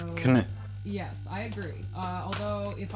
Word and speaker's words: Knytt: And then I learned simply from interacting with the community that it is Knytt.